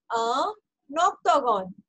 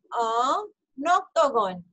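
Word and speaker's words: un octogone: Again, octagon का O जो है vowel है, so vowel will go to N. So this will sound as a Noctagon. A noctagon.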